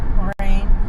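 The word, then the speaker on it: Moraine: Morin.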